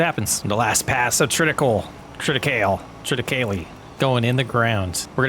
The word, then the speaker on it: triticale: Triticale. We're gonna go with triticale. That seems to be the English, the American English phonetic way of saying it, in my opinion.